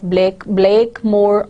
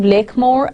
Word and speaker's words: Blakemore: It is a fictional valley, but Hardy continuously reminds us that there are two accepted pronunciations of the name.